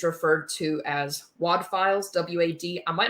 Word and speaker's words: WAD: to as WAD files, W-A-D. I might not be pronouncing that right. It sounds like WAD, like what you do with a piece of paper.